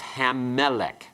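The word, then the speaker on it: המלך: pronounce it Melech and we put the article on it becomes hamelic good coal means Voice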